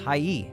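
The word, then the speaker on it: はい: sounds like e the word hi is actually pronounced Hai but since Japanese is a language spoken at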